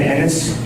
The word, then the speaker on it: Ennis: My name is Ennis, E-N-N-I-S. Thank you. It rhymes with tennis, not other words.